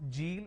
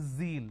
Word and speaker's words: zeal: It's not zebra, it's zebra. It's not John, it is zone. It's not Jeel, it is zeal. It's a z sound.